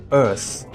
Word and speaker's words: Urth: As I vaguely mentioned earlier, the game takes place on a post-apocalyptic version of Earth called Earth, which is spelled as URTH, wherein players control one